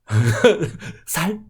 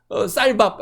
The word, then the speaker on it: 쌀: 특별히 우리 보면은 경상도 사람들이 발음 중에 쌍시옷 발음을 못해서 우리 쌀이라고 하는 발음, 그냥 쉽게 해서 너 쌀 해봐 그러면 살 이렇게 얘기하는 겁니다.